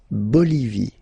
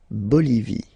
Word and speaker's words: Bolivie: Okay, final not pronounced. La Bolivie. La Bolivie.